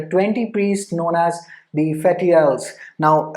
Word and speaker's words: Fetiales: priests known as the Fetiales. Now अगर मैं Latin में इसको पढ़ूँ तो it's Fetialis, but मैंने internet पे pronunciation check करी थी, so it was Fetiales.